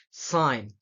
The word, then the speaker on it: sign: hear you know what about the word g the G letter for the example of the word is a sign champagne design gnome so you're not saying it